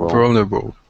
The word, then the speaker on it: vulnerable: Vulnerable. Yeah. Wow. Great, guys. Vulnerable. Yes. Yeah, vulnerable. Remember, it's 4 syllables.